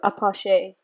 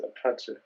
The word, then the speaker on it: Apache: rap yes i do apoche wait how do you say it that's how he says it in his songs no he says apache apache yeah anyway um